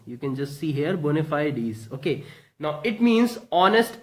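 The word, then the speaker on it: bona fides: is again it's a noun and it is pronounced as bona fide ease you can just see here bona fide ease okay now it means honest intentions and sincerity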